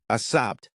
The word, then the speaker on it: السبت: Saturday. السبت. Pronunciation, as-sabt. Meaning Saturday.